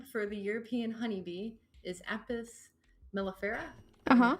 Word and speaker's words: Apis mellifera: First, the scientific name for the European honeybee is Apis mellifera. Uh-huh. I'm pronouncing that right?